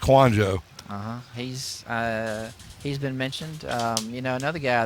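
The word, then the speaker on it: Kouandjio: I believe that's how it's pronounced. It's Kwanjo.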